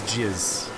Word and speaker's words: jizz: first Star Wars movie that is jizz because it rhymes with jazz and church looks is